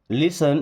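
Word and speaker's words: listen: लिसन इस लिसन word में T silent.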